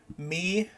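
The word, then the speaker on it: Mie: Me Martine. If you want to know how to spell it, it's M-I-E, me, and it's pronounced me.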